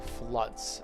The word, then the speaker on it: flood: Those are floods, and remember the pronunciation is flood.